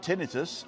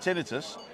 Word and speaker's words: tinnitus: of the ear, but tinnitus maybe isn't inflammation. There we go. I've always said tinnitus, but I heard an American say tinnitus.